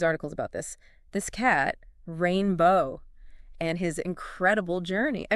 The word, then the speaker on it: Rayne Beau: uh right oh and speaking of names rainbow it's actually pronounced rainbow oh really I didn't realize that yeah rainbow which is you know interesting